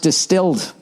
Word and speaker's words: DSTLD: ] stairs every morning dstld pronounced distilled I didn't know that